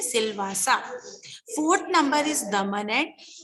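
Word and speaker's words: Silvassa: Dadra and Nagar Haveli, capital is सिलवासा, इसको हम pronounce करते हैं सिलवासा।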